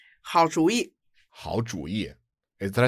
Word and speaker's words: 好主意: So usually these two characters are pronounced third tone, fourth tone, right? 主意 means idea. Yeah. But when you put the 好 in front of it, it's 好主意.